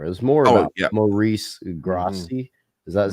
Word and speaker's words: Maurice Grosse: It was more about Maurice Grossi. Is that how you say his name? Morris Gross.